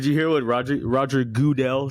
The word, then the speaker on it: Goodell: Like, anytime that he's brought up, no one says Roger Goodell. Everyone says Roger Goodell.